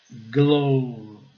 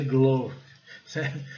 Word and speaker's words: glove: No caso aqui é uma luva só, então é glove. Desculpa. A pronúncia seria glove, se nós fôssemos seguir a regra, mas nesse caso é exceção. Então é glove.